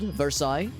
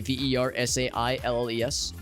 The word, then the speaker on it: Versailles: So, for instance, there is a town that is spelled Versailles, which is to say Versailles.